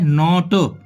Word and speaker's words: knot: जैसे कि KNOT, इसको ये होता है नॉट, के साइलेंट है यहाँ पर।